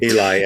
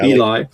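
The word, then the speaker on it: Elie: Ellie. Eli. Eli.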